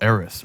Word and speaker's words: Eris: Eris.